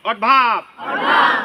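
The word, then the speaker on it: adverb: আমরা অ্যাডভার্ব উচ্চারণ করি। অ্যাডভার্ব উচ্চারণ হবে না। বলো অ আট ড। বলো অট ভাব। অডভাব। ওয়াট আসতে ভাব ধরে বলো অডভাব।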